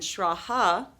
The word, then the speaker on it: Schraa: I'm Schraa, like Eugene, and Schraa rhymes with algebra.